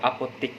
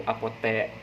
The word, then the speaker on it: apotek: Tunggu sebentar ya, aku mau pergi ke apotik. Jadi penggunaannya itu menggunakan huruf I pada ejaan bagian belakang. Jadi sebenarnya kata yang tercantum pada kamus KBBI yaitu apotek.